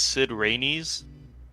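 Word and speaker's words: Cid Raines: on the wiki um you guys are pronouncing it wrong it's sid rainey's the souls trap within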